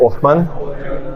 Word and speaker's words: Oschmann: percent of Australia's commercial radio broadcasters and Othman that's how you pronounce absolutely try to take my German accent